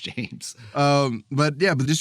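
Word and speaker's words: Jeymes: harder they fall by james samuel i think i'm pronouncing it james it's spelled weird but i predict i assume it's pronounced james um but yeah but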